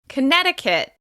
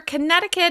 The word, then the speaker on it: Connecticut: Connecticut. Connecticut. As you can hear, Connecticut is stressed on the second syllable.